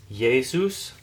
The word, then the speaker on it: Jesus: by okay all right the word Jesus is yesus uh kind of like you're saying yay yay Yus um all